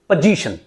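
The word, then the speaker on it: position: तो इसलिए आप इसको जो बोलोगे, when you are going to pronounce this word, so हाउ you will pronounce it, will be pronounced पोजीशन, पोजीशन, नॉट पोजीशन, इट इज पोजीशन।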